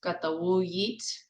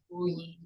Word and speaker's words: Wiyot: Wiyot, and the other slightly different pronunciation, same meaning. Elsie Bartos said it. Wiyot.